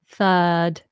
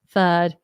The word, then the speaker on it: third: the word third third we don't pronounce the r it's a wide letter box sound third third um yes and the